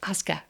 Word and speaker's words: Oska: it's Osa or Asuka just think Oscar and pretend like you're Australian it's Asuka today I am interviewing